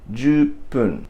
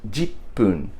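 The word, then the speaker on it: 十分: ju and fun becomes pun, jupun. And with a small tsu put in between, it becomes jupun. Now sometimes you actually hear this pronounced as jipun, with like a G sound.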